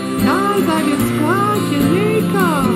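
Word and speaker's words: Gaa-zaagaskwaajimekaag: To say Leech Lake in Ojibwe, we say Gazagasqua, Jamaica. That's all there is to it. In Ojibwe, we say Gazagasqua, Jamaica.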